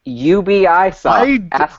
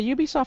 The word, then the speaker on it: Ubisoft: first word uh ubisoft it's pronounced ubisoft santorum i say on a regular basis i don't care about pronunciation all right you guys heard satoru iwata with that ubisoft guy on stage pronounce it ubi soft over and over it was